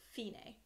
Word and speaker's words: Fine: so DC elfine a it's spelled like fine but it's Italian so we pronounce it Fein a is an Italian phrase